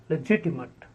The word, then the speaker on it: legitimate: the next is legitimate legitimate stress on the second syllable the gt1 legitimate the next word is